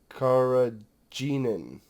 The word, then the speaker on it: carrageenan: well it says curried carrageenan i think is how that's pronounced and that's basically a